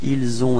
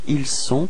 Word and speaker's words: ils ont: Just before leaving you, actually keep in mind that this liaison, this link, is actually quite soft. It's not really strong, and it's especially important for this last part, ils ont and elles ont, because if you make it stronger and too strong, it would sound like ils sont, and in this case,